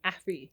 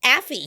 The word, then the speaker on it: Afy: you say your name afy afy ay like taffy ay like taffy okay